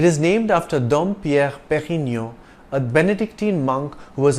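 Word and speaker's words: Pérignon: English way perennial but note the acute Accent on the E that means you stress the first syllable was a seller Master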